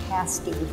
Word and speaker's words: pasty: a breakfast pasty that we created passes are pronounced pasty like past day meal the presence of